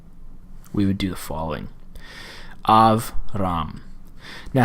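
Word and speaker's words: אַבְרָם: want to know is a Shiva is silent if it occurs after a short vowel. If it occurs after a short vowel. And that would be the case here. Av, ram.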